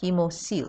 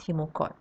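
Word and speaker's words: hemocoel: known as the hemoseal so this word is pronounced hemoseal not hemochord now in the body cavity the fluid now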